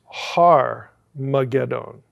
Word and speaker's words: Har Magedon: We have Armageddon, but actually we're mispronouncing it. It's Armageddon.